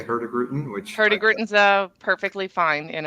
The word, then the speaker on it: Hurtigruten: Well, I am a country bumpkin from Norway, so even my Norwegian counterparts would probably balk at the way I pronounce the company name, but I say Hurtigruten, which actually is probably correct. Hurtigruten, it means the fast route.